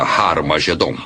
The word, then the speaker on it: Har Magedon: E realmente em algumas das antigas versões do Novo Testamento, escritas em grego, Armagedon tem o som aspirado no início, que significa que era pronunciada com H. Originalmente era Har Magedon, e é muito fácil passar de Har Megido para Har Magedon.